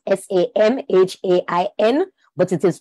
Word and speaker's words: Samhain: It is spelled S-A-M-H-A-I-N, but it is pronounced Samhain.